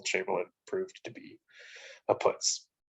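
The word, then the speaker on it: putz: proved to be a puts so or putts i guess actually i believe it's yiddish putts is i think the better pronunciation so since world war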